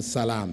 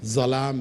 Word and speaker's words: salaam: you've changed the meaning so try to pronounce it correctly is different from salaam salaam means peace zalam means oppression okay anyway question with